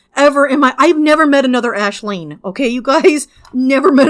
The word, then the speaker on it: Aisling: It would have been Aislinn or Aisling, which is how you spell Ashleen.